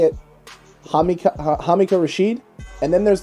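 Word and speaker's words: Hamilcar Rashed: Hamakah Rashid.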